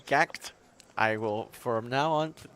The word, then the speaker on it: GACKT: trauma correct correct uh getting some corrections and pronunciations please just say gact I will from now